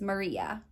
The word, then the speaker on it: Maryah: I believe the pronunciation is Maryah, M-A-R-Y-A-H.